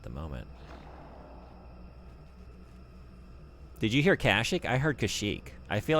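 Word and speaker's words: Kashyyyk: then have me say Kashik. You just can't do that to me. You can't put three Y's next to one another and then say, "And now go emphasize the other syllable, not this one."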